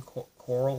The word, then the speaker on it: Corle: Edwin Corle, or Corley, is how you say his name, Corle.